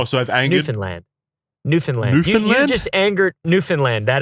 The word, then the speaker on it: Newfoundland: It is, I mean, you'd think, being an English speaker, it would be pronounced Newfoundland, right? But I know a bunch of people from that place, and they all get really angry if you say it that way.